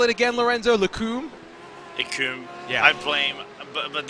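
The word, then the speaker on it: Les Combes: It's Lacombe. What did you call it again, Lorenzo? Lacombe?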